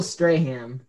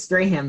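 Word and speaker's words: Strahan: that's jake it's spring it's spray him the vowels are split like his teeth i'm gonna take um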